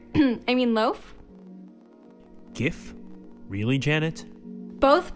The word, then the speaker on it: GIF: or I mean loaf gif really Janet both pronunciations are valid I know I just didn't take you for a hard G kind of person I don't want to